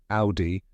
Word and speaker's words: Audi: do you say it the correct pronunciation is Audi rhyming with howy let's break it down step by